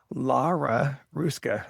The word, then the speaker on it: Lara Hruska: So today I'm very honored to have the attorney, welcome the attorney who stood behi beside us, fought with us, um, Lara Ruska.